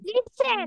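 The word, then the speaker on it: listen: লিস টি ই এন যদিও আমরা টি লিখি বা টি উচ্চারণ করা হয় না ঠিক আছে ওকে এটা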